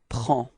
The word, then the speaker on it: prends: singular, je, it's je prends. Repeat. Je prends. Okay, so you can see that we've got S at the end and then D as well, but then we don't pronounce them.